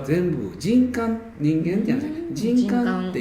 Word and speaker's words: 人間: なんですか人間と書いてああ人感人感バチさがははいあれが私も実は知らなくって人間と読んでたんですよあれはほと大学教授でも人間って読む人はいるんですけどもあのその人間っていうよ方も間違いじゃないんですけど中国